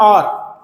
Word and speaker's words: hour: की बात करते हैं, H मतलब और, इंग्लिश में HOUR, इसको हम और पढ़ते हैं। ठीक है, हार नहीं पढ़ते, हावर बहुत लोग कहते हैं, वो गलत प्रोनाउंसिएशन है, और कहते हैं।